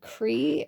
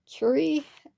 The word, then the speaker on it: Curie: And then there was a time I was talking about Madame Curie, and I said Cree instead of Curie, and that was really just honestly a mistake.